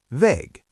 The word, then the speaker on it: Weg: And Weg, meaning path, also ends with K while pronouncing. Try saying these. Krieg. Weg.